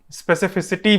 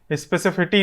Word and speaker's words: specificity: Video बनाना start किया, ताकि मैं स्पेसिफिसिटी बोल सकूं, स्पेसिफिटी नहीं।